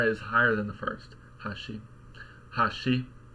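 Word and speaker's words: 端: it sounded something like for bridge she said Hashi and for Edge she said Hashi right so it's a less dramatic rise in Pitch but again that may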